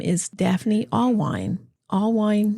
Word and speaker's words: Allwein: Allwein, no beer. That's how she taught me to say it.